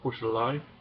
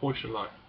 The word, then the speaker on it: Heuchelei: The next thing I noticed was the word Heuchelei, and I just used the wrong stress. I stressed the initial syllable, Heuchelei, whereas it should have been on the final syllable, Heuchelei.